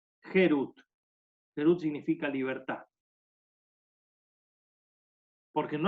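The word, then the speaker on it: חירות: Porque dice la palabra Harut, que sería tallado, grabado, sino la misma letra Harut, con una pronunciación distinta, Gerut.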